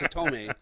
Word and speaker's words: Hitomi: and as soon as I said it wrong, I knew I was going to say it right. So it's Hitomi, and then she's paired